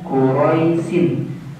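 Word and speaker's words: قُرَيْش: Tulisannya quraisin. Dikarenakan kita membacanya wakaf atau berhenti, maka cara membacanya menjadi qurais.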